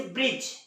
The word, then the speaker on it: bridge: उसी तरह से ब्रिज, BRIDGE, यहाँ भी देखिए आप क्या हो रहा है, जो डी है वो जी के पहले आ रहा है तो वो साइलेंट होगा।